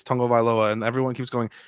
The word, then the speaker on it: Tagovailoa: of him saying it's tongo vailoa and everyone keeps going tagovailoa tango he there's a video that you can watch of him phonetically saying his name like i just don't